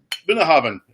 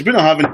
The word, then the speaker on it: Bunnahabhain: In the Gaelic, with a B, is pronounced a V.